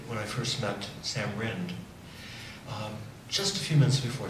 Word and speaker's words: Rind: you heard all right my name is rind some people pronounce it ryan they do correct it